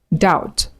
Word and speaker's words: doubt: debt, indebted, subtle, debtor, doubt. So you do not pronounce the B in between. Do not say debt or indebted or subtle. No. You pronounce it without the B.